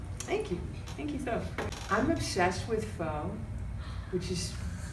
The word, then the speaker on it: pho: you I'm obsessed with phone which is not true not actually pronounced oh it's pronounced in a way that is almost a swear word but it's spelled pho